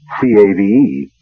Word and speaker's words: cave: For myself, I equate cave with the Latin word spelled the same way, C-A-V-E, but pronounced cave.